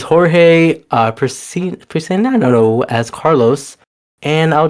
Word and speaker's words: Jorge: We got George Priscino as Carlos, and I think now I think that's Jorge. I'm so I sorry, think that's how you Jorge. You're right. pronounce It's Jorge Priscino as Carlos, and I'll just bring here